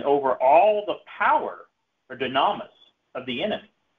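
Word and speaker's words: δύναμις: 19, we have an example of exousia and dunamis. I think, how do you pronounce that?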